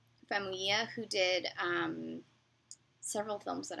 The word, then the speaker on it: Famuyiwa: and it was written by Rick Fuma... I always say his name wrong. Rick Famuyiwa, who did several films that I really enjoy, including The Wood and Brown Sugar.